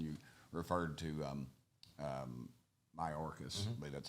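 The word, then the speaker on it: Mayorkas: the house and you referred to um um my orcas that's how you say his name uh you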